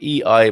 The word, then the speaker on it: EI: the letters of it are e and i e i migration services as in immigrant and immigrants and